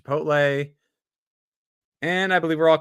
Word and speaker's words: Chipotle: wants to know how to pronounce Chipotle it's pronounced Chipotle and I believe we're all caught up except